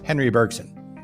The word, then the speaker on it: Bergson: and nobel laureate and we'll try the french pronunciation here and go with it it's bergson or as americans would say henry bergson now monsieur bergson proposed